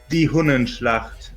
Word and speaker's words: Die Hunnenschlacht: Franz Liszt's symphonic poem Die Hundenschlacht premiered in Weimar. Yeah, that was the capital of Germany for some time, but the pronunciation is Die Hunnenschlacht.